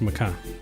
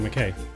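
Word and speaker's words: Mackay: So it is pronounced Makai. Got it. We kept saying McKay. We'll say Makai.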